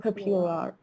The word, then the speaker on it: popular: Popular. استرس روی سیلاب اوله. popular. یا لر نیست.